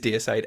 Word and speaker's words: Deicide: I say deicide, you see. Yeah, Because you have deities, you know? Well, I suppose so, yeah. But it is deicide. I think, in fact, on one of the early press releases, it's actually spelt phonetically. It says deicide, just in case anyone was ever worried Well, about it.